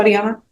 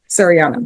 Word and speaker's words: Sariana: Serini, how do you pronounce it? Shadiana? Sariana. You got it.